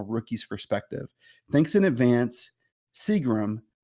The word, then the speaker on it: Seagram: perspective thanks in advance Seagram pronounced like the alcohol yes I joined the